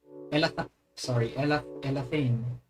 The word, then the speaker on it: Elathain: Elathain.